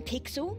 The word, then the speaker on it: Pixel: we weird guy I'm pixel it's easy to remember because it rhymes with pickle so it does I'm